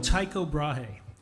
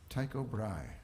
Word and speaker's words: Tycho Brahe: i get while you're at home look up tycho brahe tycho brai yeah all right how do you spell that cyco first name b-r-a-h-e he was given